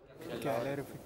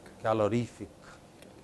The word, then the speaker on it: calorific: For example, you know what is the pronunciation of the first word there? Calorific. Calorific.